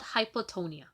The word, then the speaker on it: hypotonia: noodle technically that's called hypotonia you say it like this hi-ho tone yeah it's a big